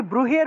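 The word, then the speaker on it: ব্রূহি: তাহলে সে কষেত্রে এই ব্রুহের উচ্চারণটা সাধারণ বর্গীয় অবয়ের মতই হবে। তাহলে ব্রুহি ব্রুহি এভাবে উচ্চারণটা হবে।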